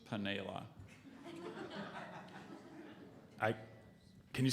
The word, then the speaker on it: panela: spell this word um are there any other alternate pronunci is that what you say alternate pronunciations yes there's just paneila I can you say the word one more time okay Pinella p-a-n-e-l-a correct chalupa